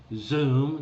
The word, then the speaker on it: Xoom: remotely but there's worldremit wise Zoom that's spelled Xoom Western Union and probably